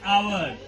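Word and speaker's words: hour: तरह से यहां लिखेंगे आवर एच ओ य आर ठीक है तो यहां पे क्या होता है एच साइलेंट वर्ड बताया है ना तो यहां पे लिखते हैं आवर क्या लिखते हैं आवर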